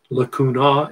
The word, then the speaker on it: lacunae: canal you see lacuni ae is pronounced e that's latin lacunae is singular cataliculi singular